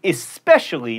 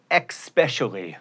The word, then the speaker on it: especially: it's supposedly not supposedly and especially not expecially comfortable has four syllables